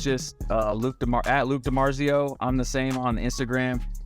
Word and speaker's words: Luc DiMarzio: uh Luke tomorrow at Luke DiMarzio I'm the same on Instagram and yeah my name is spelled weird that's l-u-c DiMarzio like it sounds d-i-m-a-r-z-i-o and uh yeah